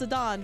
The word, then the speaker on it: Zidane: Zidane is pronounced Zidane because it's supposed to be like French.